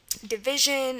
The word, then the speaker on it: divisi: divide in there, or division, and that's going to be an S. So that's one way you can figure out this is going to be an S, but it's pronounced as a Z, divisi.